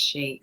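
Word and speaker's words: sidhe: what's that it's me it's spell s-i-d-h-e it's a silent i and a silent d so it's just pronounced she so i think that's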